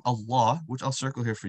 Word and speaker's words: Allah: So the name Allah, if you notice that lam is always going to be stretched.